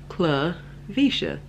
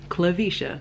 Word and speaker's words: Clivesha: to pronounce my name, which you pronounce my name Cla, so C-L-I, Cla, and then Visha. It's pronounced just the way it's spelled, Cla Visha. Say it with me, Cla Visha. That's how you pronounce my name, Clivesha.